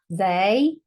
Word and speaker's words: they: You have you, they. This is another one of those tricky words. So this E says an A sound, they, and on.